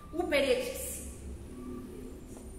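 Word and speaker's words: ὑπηρέτης: Uperetes. Uperetes com H. É exatamente como se pronuncia, coloca só o H na frente.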